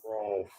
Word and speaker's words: Ralph: Ralph R.